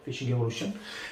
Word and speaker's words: Fishing Evolution: fonder di Fishing Evolution si legge feci Evolution e questo è il